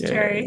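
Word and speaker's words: Cherre: looks like yeah yeah it's just Cherry like the fruit yeah and then uh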